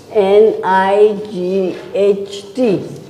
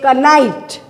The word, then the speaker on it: knight: is silent like your over here k is silent so that way it